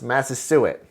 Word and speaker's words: Massasoit: their greatest king, and I believe this is pronounced Massasoit, with 90 men, whom for 3 days we